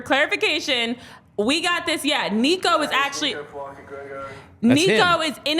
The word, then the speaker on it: Nikau: name in the video Jamie heard it played and still said it wrong several times but yes it is Nico uh yes and he